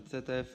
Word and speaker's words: ZF: Ogólnie to się nazywa skrzynia CTF. Dlaczego CTF? Jeśli bym tutaj w Austry, gdzie jesteśmy, powiedział, że to jest skrzynia ZF, nikt mnie nie zrozumie. Wiadomo, że Z czyta się jako C.